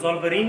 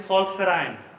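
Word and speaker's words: Zollverein: Normal English में इसको हम लोग ज़ोल्वरीन कहते हैं, बट ये एक जर्मन टर्म है, जर्मन वर्ड है। मैं इसको तोड़ता हूं आपके लिए, जो बहुत कम लोग बता पाएंगे। इसको जर्मन भाषा में प्रोनाउंसिएट करते हैं सॉल्फेराइन। That means sol means, this is made up ऑफ 2 words. We को एफ पढ़ते हैं, फ्राइन दैट इज क्लब, ठीक है।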